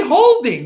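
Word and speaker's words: HODL: it Adam well yes I know you spell it H odmg I like to say holding not the other way but then should we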